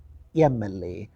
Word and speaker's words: MLA: student he's an mla look at the word emily it begins with the letter m but is pronounced as a mla so you should say an mla an mp but a minister